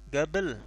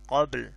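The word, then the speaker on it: قبل: Jadi jet, jet gabel. Qafnya itu dalam bahasa Amiyah itu menjadi G, seperti kita mengucapkan G dalam bahasa Indonesia.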